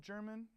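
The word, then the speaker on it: Jermyn: German it is pronounced German even though it's spelled I mean I guess it's spelled it's pronounced it's spelled like how a rapper would spell German yeah like that's j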